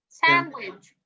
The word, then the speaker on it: sandwich: i say friends friends also the word sandwich sandwich also the d here we omit it because it's preceded by